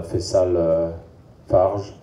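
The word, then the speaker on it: Fayçal Fajr: Et puis, quant à Faisal Farge, je le prononce à la française, hein, pardon.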